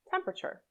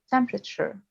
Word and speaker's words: temperature: history temperature the second e after the p is often not pronounced right so you can link the p to the r temperature temperature in vegetable the second